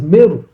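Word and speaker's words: Meroë: big city that is called Mer but it's spelled meroy but the word is meru so the main city was called meru now you go North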